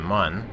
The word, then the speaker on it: Mun: I pronounce it Mun. Is that not how people pronounce it? It's a moon, but its name is Mun, I think is kind of how it works.